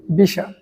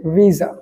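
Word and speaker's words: visa: কিন্তু এটার সঠিক উচ্চারণ হচ্ছে রাসা। এরপরে যে শব্দটি দেখতে পাচ্ছেন সেটা হচ্ছে ভিসা। যেটা আমরা অনেকেই বলি ভিসা। কিন্তু এটার সঠিক প্রনান্সিয়েশন হচ্ছে ভিজা।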